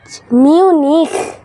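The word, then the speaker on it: Munich: 1972 সালে মুক্তিযুদ্ধ হয়েছিল 71 হয়েছিল মিউনি মিউনিক এটার উচ্চারণটা হল লেখা এভাবে চয় কিন্তু মিউনিক জার্মানির রাজধানীর নাম বার্লিন আর এটা হল বিখ্যাত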